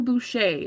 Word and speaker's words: Boucher: So Marcel Boucher, that's how you say it, is B-O-U-C-H-E-R.